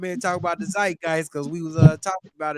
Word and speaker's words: zeitgeist: We wanted John to come in and talk about the zeitgeist because we was talking about it, John. Yeah, I believe it's pronounced Zeitgeist, but it really don't matter how you say it.